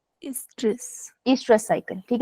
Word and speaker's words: oestrus: एस्ट्रस इज, ओ is silent, Estrus.